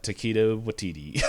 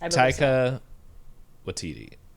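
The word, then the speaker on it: Taika Waititi: What we do in the shadows for uh Taquito Watiti. I I know I said his name wrong, but I'm just looking. Ta. Is that it? Yes. Taika Watiti.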